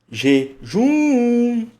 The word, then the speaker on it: jejum: Jejum. Jejum. Então, nessa separação de sílaba, qual que é mais forte? É a última.